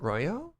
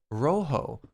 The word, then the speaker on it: rojo: bit all the time is it not royo nope nope nope rojo what really rojo like the whitest possible accent on that too it's spanish not french i mean canada you